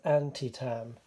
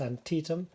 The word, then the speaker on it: Antietam: like to say that being English I would have read this as anti Tom I hope I don't pronounce it that way during this game I've learned that it's Antietam and if I do